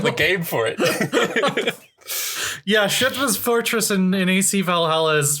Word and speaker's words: Kjotve: Shutve. You don't pronounce the E like an A.